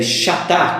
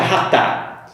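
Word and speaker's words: חטא: uma palavra hebraica que, mesmo que a gente escreve chatá, como você pode ver no vídeo logo abaixo, mas a pronúncia correta seria ratá.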